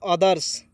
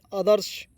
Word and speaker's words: others: अब देखेंगे OTHERS पढ़ेंगे दोस्तों, अदर्स, क्या पढ़ेंगे? अदर्स पढ़ेंगे, अदर्स नहीं अदर्श, अदर्स होता है दूसरा।